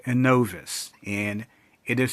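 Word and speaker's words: Innovis: But once again, there is a fourth credit reporting agency called Anovvice, and it is spelled I N O V I S.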